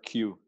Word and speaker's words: Khieu: say your last name like the letter q okay yeah okay okay